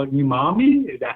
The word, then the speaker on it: umami: So I'm excited to test it out, see what the meat looks like, and see that they call it umami.